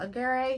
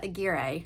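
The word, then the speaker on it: Aguirre: Ray Tacero and Claudia Agger. This is editing key to say that I butchered their name, so I looked it up. It's Ray Tersiierro and Claudia Agira.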